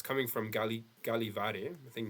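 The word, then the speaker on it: Gällivare: And let's see how it is pronounced. Galiv. Here we go. Okay. Galivore. Yeah, Galivar.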